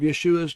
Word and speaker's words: Yeshua: the most difficult to translate and impossible to pronounce correctly in Greek therefore we lost the sound of yeshua's name in Greek translation we do however learn